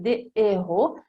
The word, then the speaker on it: des héros: che non fa fare la liaison, si dirà des héros, proprio una regola di fonetica, di pronuncia, non si dice des héros, si dice des héros e les haricots non si collega la S